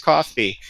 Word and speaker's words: CFVY: you know team you know cfvy and parentheses coffee you know rw rwby parentheses ruby you know putting in those pronunciations or going to great lengths to explain